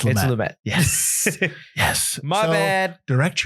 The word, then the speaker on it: Lumet: I've been pronouncing Lumet wrong. It's Lumet.